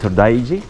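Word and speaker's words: 東大寺: to the temple now Yeah How do you pronounce it todaiji todaiji todaiji okay So we're going to the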